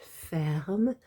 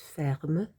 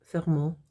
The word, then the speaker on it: ferment: So les vaches ferment, that's the verb fermer, which is an ER verb. That's ENT ending, which you don't actually pronounce. It's just ferme. It's not ferme, fermant.